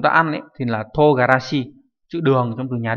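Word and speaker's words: 唐辛子: Hay là togarashi, togarashi không phải là mù tạt nhé, đây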